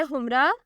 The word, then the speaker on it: Humra: नाम है हुमरा। स्पेलिंग है HUMRA।